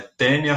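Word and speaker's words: Taenia: Repara que o nome do gênero se escreve com AE, ó. Só que em latim, quando você tem o A e o E, você lê só o E. Então é tênia saginata.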